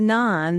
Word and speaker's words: NAAN: Um the NAN the North American Agriculture Advisory Network um you can pronounce it like the Indian bread.